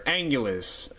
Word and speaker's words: Anguirus: It's the 2006 Final Wars Anguirus, or Angulus, however you want to pronounce it. They actually pronounce it several different ways throughout the movies, I'm pretty sure. Or at least with the English dubbed audio they do.